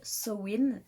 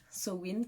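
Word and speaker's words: Samhain: sur la roue de sowind sowind qui s'écrit sa main mais qui se disent au wynn qui en fait et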